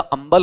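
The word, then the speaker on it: humble: शुद्ध उच्चारण इसका अंबल होता है। अंबल होता है या अंबल? अंबल होता है। ठीक है, इसमें है साउंड प्रोनाउंस नहीं होता है, लेकिन हम कर दिया करते हैं समझाने के लिए।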